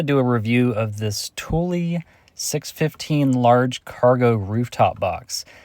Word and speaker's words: Thule: Guys, I'm going to do a review of this Tuli 615 large cargo rooftop box. Now, I thought it was pronounced thool, but it's pronounced Tulie apparently.